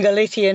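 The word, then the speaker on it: Galiza: And in fact, in Galician, it's Galicia with a Z.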